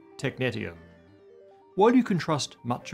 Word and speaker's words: technetium: And finally, apparently, I pronounced technetium wrong. It's technetium, not technetium.